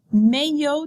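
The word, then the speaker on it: maillot: bathing suits are called Mayo de think how you say that and look at how it's spelled and think about how it sounds Mayo de remember we don't pronounce the L's these access we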